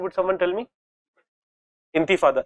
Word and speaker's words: Intifada: Intifada, it is the correct pronunciation, जैसे विवेक बताए, इंतिफादा है, ओके ओके।